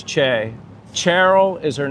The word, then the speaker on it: Che: I know it was an accident, but And then he says, "Shaya." So, Robert maybe is confused. That's Chay.